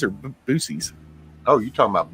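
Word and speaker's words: Buc-ee's: here and there too it's b-u-c-e-e-e-s is that Bucky's or boosies oh you're talking about Bucky's yeah well I'm truck stop stuff yeah yeah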